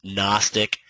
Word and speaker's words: gnostic: So he calls these levels gnostic. G is silent. Gnos comes from a Greek word nosis which means knowledge. So it's NOS and then tick is a value that we obviously use in trading.